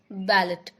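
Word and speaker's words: ballet: Next बैलेट. बैलेट की Hindi meaning होती है नृत्य नाटक. अब यहाँ पे बैलेट में जो टी है वो साइलेंट है, इसीलिए इसे पढ़ते हैं बैले.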